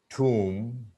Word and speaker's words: tomb: Comb, tomb, basically, date, doubt. B isn't pronounced.